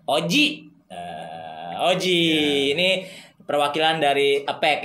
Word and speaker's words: Ozzie: Jadi ini kalau sebelah kiri saya, kiri gue pertama itu namanya, kalau ejaannya sih OZZY ya, betul? IE. OZZIE, tapi harusnya Ozi ya. Ozi, tapi ya secara lidah gue kampring, Oji.